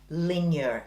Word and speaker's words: Linjer: So Linjer is actually spelled Linjer, but it's pronounced Linjer, and in Norwegian it means lines, which is a reference to the brand's minimal and simple designs.